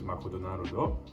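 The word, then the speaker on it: マクドナルド: but it will be written in katakana and pronounced in the japanese way which is makuu naruto and there's other words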